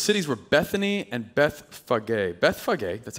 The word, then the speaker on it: Bethphage: Bethphage, that's how you pronounce it.